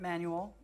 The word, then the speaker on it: Manuel: terrible um and uh it's a South African last name it's not a Spanish which is manual or man Manuel is a Spanish first or middle name so I pronounce it Manuel which is a South